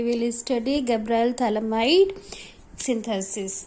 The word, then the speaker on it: Phthalimide: ये कहलाता है थैलामाइड। टी यहाँ साइलेंट होता है।